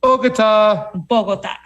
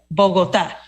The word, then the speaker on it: Bogotá: Fam, we're still in Bogotá. Bogotá. I was saying Bogotá, so I'm going to be happy with just Bogotá for a little while.